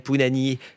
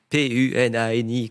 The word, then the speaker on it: Punani: Je m'appelle Pounani. Punani, comme un pou et nani.